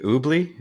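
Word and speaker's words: Oobli: And so I think and how do you pronounce the name of the company? Is it Oobly?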